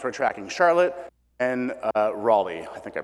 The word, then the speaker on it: Raleigh: tracking two markets we're tracking charlotte and uh raleigh i think i pronounced that right raleigh yeah okay so we're tracking these two markets